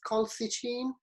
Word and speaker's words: colchicine: I can never pronounce this. I think I missed the L there. It's colchicine.